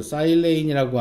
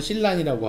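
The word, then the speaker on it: silane: 실리콘 베이스의 소스, 사일레인이라고 하는 SiH4, 어떤 사람은 실란이라고 하고요. 어떤 사람은 실레인이라고 하는 사람도 있는데 영어로는 사일레인이라고 읽고 저는 계속 사일레인이라고 합니다. 뭐 실란이라고 하셔도 큰 문제는 없고요. 실레인이라고 해도 큰 문제는 없습니다만, 만약 여러분이 아무 문제 없으니 사일레인으로 그냥 해주시면 어떨까.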